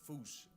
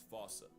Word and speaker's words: fossa: way to say it, is foosh, foosh, foosh, like foosh with a performance anxiety at the end. Experts feel free to correct me, but apparently that is the closest to the OG Malagasy pronunciation.